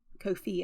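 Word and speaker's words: Ko-fi: do want to set up a Kofi um Kofi account Kofi is spelled k-o-f-i and it's just an account where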